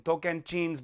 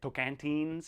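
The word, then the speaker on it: Tocantins: year old woman in token jeans Brazil yes that's the way to pronounce it in Portuguese I think we can say tokantines I I don't know how you Americans say it no pronunciation is a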